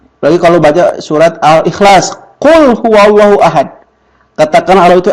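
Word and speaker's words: قل: Jadi kalau ibu baca kul pakai ka, itu artinya makan.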